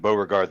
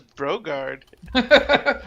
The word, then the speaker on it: Beauregard: I thought it was Brogard. I know, I but might have now said it wrong. that he said Beauregard.